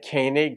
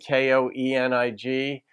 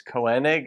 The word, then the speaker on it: Koenig: gonna guess it's Hayne like kanig k-o-e-n-i-g is uh most people would look at and say oh it's Koenig or something but it's actually pronounced Koenig so I hope I'm